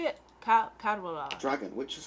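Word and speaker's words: Cadwaladr: Cadvalder. Dragon, which is called the Dragon of Cadvalder. Cadvalder. The C is kind of like a G.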